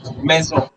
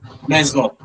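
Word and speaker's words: maison: Meo. Meo. M a i s o n. So in the word meo the s is pronounced like a zed. Why? because it is coming between two vowels.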